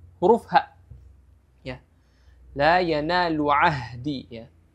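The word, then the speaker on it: عَهْدِي: La yanalu ahdi ya. Huruf ha ini makhrajnya berada di tenggorokan bagian bawah ya.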